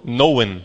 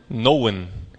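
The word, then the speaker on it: Nouwen: naen um autor Holandês geralmente aqui no Brasil pronuncia Henry eh noen né noen ele escreveu um livro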